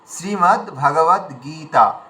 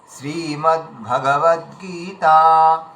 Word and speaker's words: শ্রীমদ্ভগবদ্গীতা: তো এখানে শ্রীটা দীর্ঘ আছে। গ দীর্ঘ দীর্ঘ আছে আর ত আকার দীর্ঘ আছে। তিনটে দীর্ঘ আছে। মানে আমরা কোন মানে বাক্য কিংবা শব্দ দেখলেই আমাদের দীর্ঘ দিকে চোখ পড়া উচিত। তিনটে দীর্ঘ আছে। তিনটে আমাদের দীর্ঘ টানতে হবে।